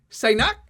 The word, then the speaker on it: Saignac: oh no I'm gonna say your last name wrong again sinak yes that's pretty good coach sinak and